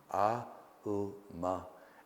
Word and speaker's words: Aum: So it's often pronounced Om. It's actually Aum, A, U, Ma, and then the importance of the silence that follows it.